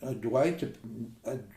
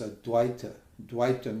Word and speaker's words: Advaita: teacher these This Modern Dwight Dwight or ad they call it they don't even pronounce it properly the actual pronunciation is AD DWI means Duality and AD